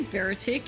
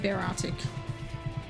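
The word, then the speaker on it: Beartic: I used to say Baratic and then people were like, that's not how you say it. So now I'm like, I don't know how you say it. So now I just go with Bear Arctic. Even though that sounds stupider in a way.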